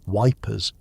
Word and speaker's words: Ypres: Ypres, the Belgian city near one of the war's most heavily contested sectors, was commonly pronounced Wipers by British soldiers.